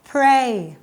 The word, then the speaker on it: pray: กัน คำ ที่ 1 Play pray Play ต่าง กัน มย อ่ะ เด็ก ๆ ลอง